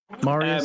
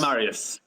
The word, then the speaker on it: Marius: Marius Marius Marius yes how do you pronounce your name Marius Marius Marius okay I've been stressed over